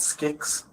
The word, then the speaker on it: SKYX: It gives it gets submitted through an app, not an app or a a domain called Skicks. Skicks. Yes. How do you spell that?